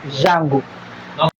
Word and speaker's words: D'Jango: Okay, I call it JANGO because that's how they pronounce it. JANGO.